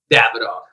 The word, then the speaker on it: Davidoff: How do you say your damn company? I mean, I've heard Davidoff. I've heard Davidoff. What is the pronunciation, my brother? Davidoff.